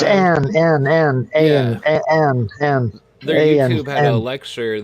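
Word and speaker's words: Ayn: Aaron Rond had I don't know how to say it. Aaron Rond. It's Ann.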